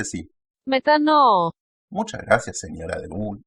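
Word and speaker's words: μετάνοια: Pero la que más se utiliza y más se repite es esta, que se pronuncia así. Metano.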